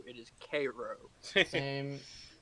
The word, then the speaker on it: Cairo: will have you know that that is not pronounced Tyro it is Cairo same it's Cairo it's Cairo like is this